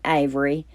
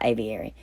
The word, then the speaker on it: Aviary: Oh, Lord, did I say it right the first time? I don't think so. But anyway, it's DIY Aviary.